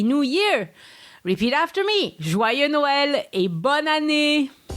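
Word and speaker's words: Joyeux Noël: christmas and happy new year repeat after me joy noel and the french history brief this week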